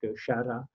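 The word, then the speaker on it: Sara: So he came to the northern Basque country, to the village of, in French it's Sar, in Basque, Shara, and he did a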